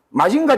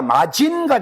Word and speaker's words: 마징가: 가기국외고나 가기국외고 여기에서는 근데 자 마징가 제트를 갖다 우리가 마진가 제트라고 합니까? 마짐가 제트라고 합니까? 마징이라 하죠. 마징이라죠. 뒤에 마징가가 아니십니까? 가가 그러니까 가기국외고 가기국외고 앞에서는 이게 이응 발음을 해야 된단 말이에요.